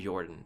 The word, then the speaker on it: Jorphdan: Finally, I'd like to give a shout out to Jorphdan, the PH is silent, and his videos on Faerun and Dungeons & Dragons.